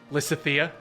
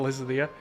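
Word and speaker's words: Lysithea: long did it take Lissa Thea instead of Liz Leah yeah Lysa Thea bring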